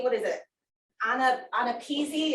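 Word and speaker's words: AANAPISI: Anapeasy is the way they actually pronounce it as sound, Anapeasy.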